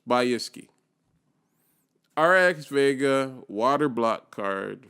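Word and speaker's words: Bykski: and we found by by iski by iski bike by iske by iski by i think that's how it's pronounced by iski RX Vega water block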